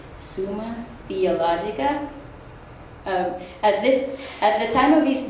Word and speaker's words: Summa Theologica: His greatest work was called, and I'm going to try not to mess up this pronunciation, it's Summa Theologica.